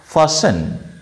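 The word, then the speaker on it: fasten: বাধা, two bind or ফাসেন, এফ এ এস টি ই এন, এস is silent, sorry T is silent here, ঠিক আছে, ফাসেন তাহলে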